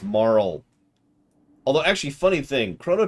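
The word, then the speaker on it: Marle: It's pronounced Marl.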